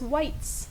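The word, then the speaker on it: wight: are referred to as whites yeah not spelled like the color or the shade w i g h t white I got the Shivers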